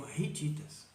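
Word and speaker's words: hititas: Nós lemos e ditas por causa do hábito em português cujo H é mudo Então lembre-se mas seriam ridditas o h é um R como nosso rítidas e ele chamavam assim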